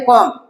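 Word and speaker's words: comb: है कॉम your hair इसको कॉम नहीं पढ़ेंगे ब इसका साइलेंट है तो इसको पढ़ेंगे कॉम कॉम योर हेयर ठीक है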